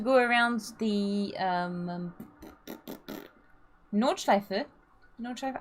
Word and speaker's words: Nordschleife: the um um nordschleife am i pronouncing it correctly yeah yeah nordschleife okay because i felt like i was adding an r at the end for a little bit which it literally means north loop no oh oh this is